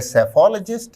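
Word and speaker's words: psephologist: शब्द का उच्चारण है सेफोलॉजिस्ट। इसमें शुरुआती पी साइलेंट रहता है।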